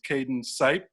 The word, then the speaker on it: Caden Sipe: out of uh cersei arkansas his name is cayden sipe did i pronounce that correctly yes sir i'm sorry i